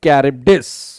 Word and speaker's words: Charybdis: इसको क्या पढ़ेंगे गाइस, एक बार देख लीजिए, इसका प्रोनाउंसिएशन बहुत मुश्किल है. इट is called between Sela and कैरिब्डिस.